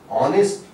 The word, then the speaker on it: honest: or lectures, this est, when it comes at the end of a word, and sometimes it is pronounced as ist, like honest, forest, eldest.